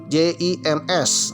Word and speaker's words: Jims: Jim ya. J I M S. Waduh, dibacanya Jims.